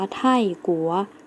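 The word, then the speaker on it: 泰国: คะ คือ ประเทศ ไทย ประเทศ ไทย เรา จะ ออก เสียง ว่า ไท่กั๋ว นัก เรียน แล้ว ออก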